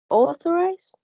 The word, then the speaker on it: authorized: The third one is authorized. It has 3 syllables, and the stress is in the first one.